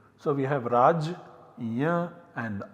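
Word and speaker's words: राज्य: So we get the form Rajya. Once again this is pronounced differently, Radnya, Ragya as well as Ragna in different parts of modern India.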